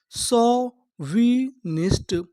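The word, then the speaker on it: chauvinist: अगर आपको इंग्लिश में कहीं पर ए यू लिखा मिले तो हम लोग ए यू को पढ़ते हैं ओ।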